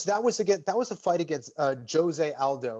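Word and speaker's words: José Aldo: That was a fight against Jose Aldo. Like, it's spelled like Jose, but in Brazil they pronounce the J. So Jose Aldo, and he was the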